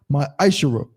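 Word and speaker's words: מעשר: Means 10th in Hebrew and is pronounced my Ishara.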